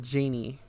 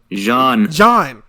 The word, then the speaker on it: Jeanne: Am I pronouncing this right, Janine, or is it Janie? Jeanne.